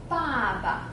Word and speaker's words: 爸爸: Okay, and the bottom part, when it stand alone, it means, it's pronounced as ba. So it suggests sound. Suggests sound, suggests meaning. Okay? Baba.